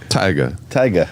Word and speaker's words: Tyga: Tyga.